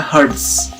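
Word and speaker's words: hertz: satuannya adalah hard ya Hz itu dibacanya Heirs selanjutnya ada cepat rambat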